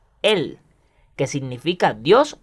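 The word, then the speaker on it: אל: A continuación de ella está la partícula o nombre de Dios alef lamet pronunciado él que significa Dios o poder.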